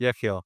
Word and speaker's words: Yechiel: I'm going to try to pronounce your name. Yechiel. Yes, Yechiel.